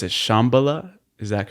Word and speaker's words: Shambhala: And there's this concept in Kabbalah, which is I think you pronounce it Shambhala. Is that correct? Shambhala.